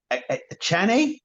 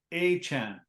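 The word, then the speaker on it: Achane: the the one dude a Chan aan did I even say his name uh he's he went out today and he said I want you to pronounce my name Devon aan Devon okay thank okay thank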